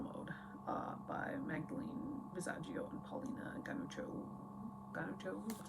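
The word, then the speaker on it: Paulina Ganucheau: I'm taking Girl Mode by Magdalene Visaggio and Paulina Ganuccio. That's how you pronounce that.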